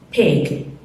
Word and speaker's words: pig: Non pig, pig. La I corto, ho già insegnato la pronuncia di questi tipi di vocali.